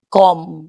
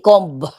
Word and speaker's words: comb: You pronounce it com without B. Hindi comb.